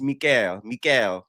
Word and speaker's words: Mikhail: It's not no Michael, it's Mikhail, right?